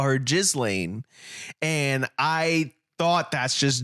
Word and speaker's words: Ghislaine: Ghislaine. Well, it's not Ghislaine. Ghislaine.